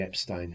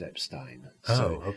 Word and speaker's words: Epstein: by the Epstein family, both pronunciations are correct. because the family called themselves Epstein, but Brian said it was Epstein. So I often say Brian Epstein and his brother Clive Epstein, because that's how they were.